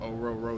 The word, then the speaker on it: Orhorhoro: like I told them it's like over a row your boat so just remember that the HS are silent and yeah but it's